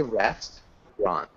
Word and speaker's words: restaurant: you repeat restaurant at restaurant okay good that's what i thought um so a lot of the times we don't pronounce the middle syllable so we just say rest ron so just two syllables can you repeat restaurant